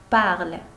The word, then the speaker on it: parles: Tu parles. Tu parles. هاد اس ما كتنطقش.